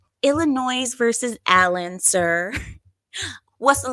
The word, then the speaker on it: Illinois: right um You said the S is silent in Illinois listen listen I did